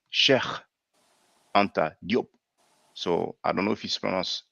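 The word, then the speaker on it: Cheikh Anta Diop: pronounce it faire, because we say shek anta job, but in Wolof it's actually sheikh anta diop.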